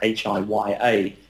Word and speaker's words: hiya: They have a term here which is spelt as if it's hiya, H-I-Y-A. It's actually pronounced hiya.